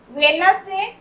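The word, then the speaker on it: Wednesday: फिर यहाँ पर वेडनेसडे, डी साइलेंट है। वेडनेसडे नहीं बोलते हम लोग, वेडनेसडे बोलते हैं।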